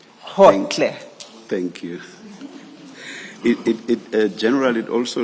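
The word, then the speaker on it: Gotlhe: It's Khotle. Khotle. Thank you, thank you. And maybe Ms. Hassim, it may have to be spelled for the transcript. Thank you. And that's spelled G-O-T-L-H-E. Hotle.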